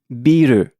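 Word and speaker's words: ビール: So beer is called in Japan Biiru.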